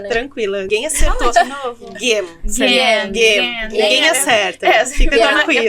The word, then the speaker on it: Gehm: Game. Ninguém acerta. Fica tranquila. Eu falava gente. Não tem problema. Mas é game, tá?